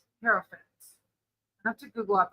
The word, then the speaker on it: Hierophant: And this one is I always say it wrong, Hierophant. Hierophant. I have to Google up how to say it because I always mispronounce it.